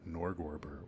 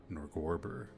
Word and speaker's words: Norgorber: reveal it was secretly a chapel to norgorber or norgorber or norer depending on your pronunciation and amidst the room's